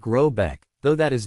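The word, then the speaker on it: Råbäck: The manor house or Hergard in question is to be called Rubach pronounced something like Robbeck though that is not its name.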